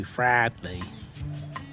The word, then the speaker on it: Fradley: And we'll have a couple of days here and then head over to Fradley. That's how it's pronounced.